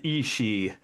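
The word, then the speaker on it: aos sí: I believe it's the Ishi. Yeah. Yeah, it's not what you would think it was. It's actually pronounced Ishi.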